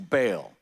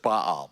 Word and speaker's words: Baal: And it says in verse 3, so Israel yoked himself to Baal at Peor. Now, some of you pronounce it Baal, but Baal is the way we normally say it.